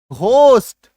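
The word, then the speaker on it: ghost: अगर जी एच शब्द के शुरू में आए तब तो उसका उच्चारण घ होगा।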